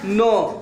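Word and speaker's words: know: यहां पे अभी पड़े एन से पहले केस आयरन होता है तो ये अब इसको तुमको कन्वो नहीं पादना है नो पढ़ना है किन ओ डब्लू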